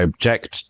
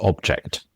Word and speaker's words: object: And it's exactly same if I say I object to this object. Object the verb stress on the second object stress on the first.